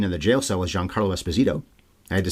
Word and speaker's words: Giancarlo Esposito: Or according to him, I heard him say this recently, Giancarlo Esposito. is how he says his name should be pronounced.